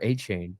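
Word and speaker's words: Achane: A-Chain? Yes, A-Chain, yep. I think he changed his name on the phonetically thing. It's a chain or A-Chain?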